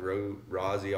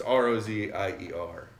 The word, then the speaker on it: Rozier: You know, most people are like Rozier or whatever, but it's Rozier.